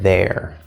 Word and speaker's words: there: bad angle err err so it's not a year a year that would be with a you sound it's too high but it sounds like the word air so it's a or air air there there do we have a connection here no we do not it's just there so and I guess